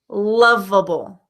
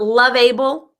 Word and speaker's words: lovable: we don't pronounce these able and evil we pronounce them double double for example lovable lovable not love able love uh-uh the schwa a lovable likeable available